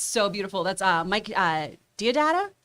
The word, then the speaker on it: Deodato: That's Mike Deodato? How do you say his last name? Deodato, yeah.